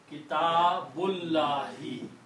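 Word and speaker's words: كتاب الله: When you read them together, you do not pronounce this alif. So this becomes Kitabullahi.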